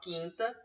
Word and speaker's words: quinta: tudo uma sílaba só mesmo que na palavra quarta você tem ditou o que o é pronunciado na palavra quinta você tem um big Hero porque o olho não é pronunciado Tá mas nunca se